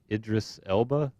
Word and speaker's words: Idris Elba: Am I pronouncing his name correctly? Say that He's again. Idris Elba.